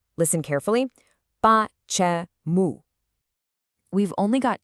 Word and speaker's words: Почему: So the word for why has 3 syllables, with the stress right at the very end. Listen carefully. Почему.